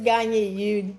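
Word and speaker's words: Gagné: No, it is Gagne.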